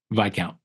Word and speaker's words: Viscount: in the field what VI count the S is not pronounced yeah or is it